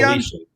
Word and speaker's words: Felician: Felician.